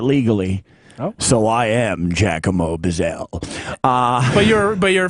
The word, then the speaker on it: Buzzell: Buzzle. And I hate that because it rhymes with guzzle.